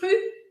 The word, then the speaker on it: rue: Aqui um detalhe, o E ao final das palavras, quando ele não tem acento, em francês ele não é pronunciado. Então eu vou fazer um tracinho assim, só para você lembrar que você não vai falar esse E.